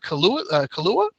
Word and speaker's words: Kaluuya: And for O'Neill's soul, Lakeith Stanfield, Daniel Kaluuya, is that how you say it?